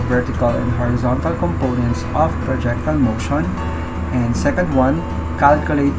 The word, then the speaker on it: projectile: is about projectile motion some pronounce it as projec so we pronounce it as projectile all right so in